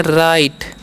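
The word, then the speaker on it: write: है इसे पढ़ते है राइट य पर डब्लू साइलेंट होता है इसे लर्न नहीं पढ़ना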